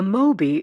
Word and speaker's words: MOI: A MOI isn't designed to be used for criminal activity. Art takes me literally. An escape car, I restate what I mean. Pronounced moi like the whale, its powerful propulsion system